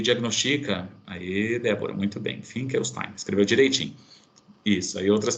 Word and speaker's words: Finkelstein: E é assim que se pronuncia, teste Finkelstein, que é esse aqui, tá bom?